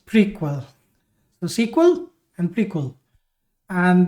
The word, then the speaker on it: PRQL: relational query language and it's pronounced as prequel.